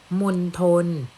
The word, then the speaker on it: มณฑล: ภาพ นี้ นะ คะ อ่าน ว่า มณฑล มณฑล แปล ว่า เขต บริเวณ